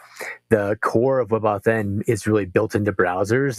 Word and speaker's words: WebAuthn: Yeah, I pronounce it WebAuthn for sure.